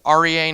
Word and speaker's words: Aryeh: Yeah, I always say it's like the letters R-E and A put together. Aryeh.